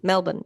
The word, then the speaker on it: Melbourne: Especially in Melbourne. Um they are good pronunciation of Melbourne. Melbourne. Yeah. I know you're not supposed to say born. That's all I know.